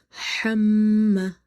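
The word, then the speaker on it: حَمَّالَة: Okay, so you said hamma plus alif is madda, so there will be a stretch. Hamma, hamma.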